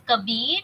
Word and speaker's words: Kabir: So the name is Kabir. You can spell it out as K A B I R.